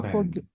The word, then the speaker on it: foreign: The G is silent. This is Oh, foreign. Foreign.